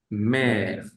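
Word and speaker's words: mère: ángulo eh opuesto eh este acento lo puede llevar otr otras vocales normalmente lo lleva la e y cambia también su sonido por ejemplo la palabra mer mer u mer Que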